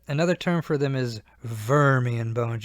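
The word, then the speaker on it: Wormian: term for them is vermian Bones you pronounce that W like a v a vermian bone so sometimes you hear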